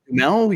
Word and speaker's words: Duhamel: And then, yes, the Josh Duhamel, is that who's playing? I don't know how to say his name. Dumel, yes, Josh Dumel got a little bit